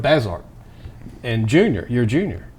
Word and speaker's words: Bazert: And I keep messing up the pronouncing of your name. Say it. Bazert. Bazert.